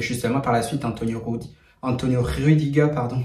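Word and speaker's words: Rüdiger: Et justement par la suite, Antonio Rudiger, pardon, parce que c'est vrai que la prononciation en allemand c'est pas pareil, donc du coup c'est Antonio Rudiger.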